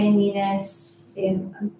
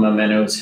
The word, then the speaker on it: Amoenus: Amoenus, I say Amoenus. Amoenus, it's probably the right way.